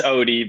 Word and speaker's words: Ode: nuts podcast with ode is am i pronouncing that right it's Odie but I think I'd be a most difficult short last name oh really that's pretty